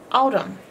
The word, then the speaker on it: autumn: reason I put the n in the box with the m is because it has no sound these are sound boxes